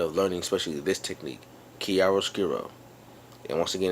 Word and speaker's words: chiaroscuro: in the habit of learning especially this technique kiaro skiro and once again it's spelled CH hii a r o s c